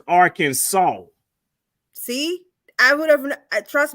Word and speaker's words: Arkansas: that it's spelled however the way that it's pronounced is that last s is actually a w so it's pronounced as Arkansas see I would have